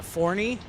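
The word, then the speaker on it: Forney: uh outside of Dallas called uh forny and it's spelled Fox Trot Oscar Romeo November Echo Yankee and I have looked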